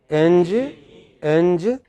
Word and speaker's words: engineer: So, one syllable is more prominent than the others.